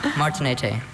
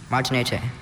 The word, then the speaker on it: Martinete: Martinete. The middle syllable, there is a schwa there, so you have to know this specific bird. Martinete.